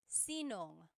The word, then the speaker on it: sinong: If you have sino ang in a question, you might hear sinong. So they put it together. So sinong kumakanta?